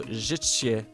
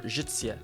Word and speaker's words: życie: Okay, so the Z with the dot over it is the zh, RZ. So hold on, let me just try. So życie, or życie. I don't know why I'm pronouncing this like a ch.